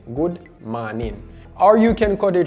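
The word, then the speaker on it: mawnin: to say good morning however it is spelled a little bit different and it's also pronounced differently now the good is spelled g and instead of spelling morning we would spell it like m a w n i n good man or you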